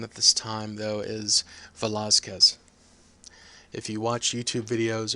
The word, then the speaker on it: Velázquez: hear them pronounce it Velázquez. And that is a result of the dialect of Spanish in which the Z is pronounced like a TH.